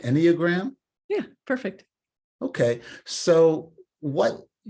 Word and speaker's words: Enneagram: um Buddhism and the any any am I pronouncing that right Enneagram yeah perfect okay so what you know I